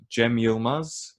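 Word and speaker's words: Cem Yılmaz: guys want to check out like Turkish stand-up Jemima's is you know is a good good option and that's pronounced CEM why I L m AZ Yemen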